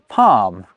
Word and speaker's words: palm: It's during the early modern English period that certain L's become silent, like in folk, but also in almond and in palm.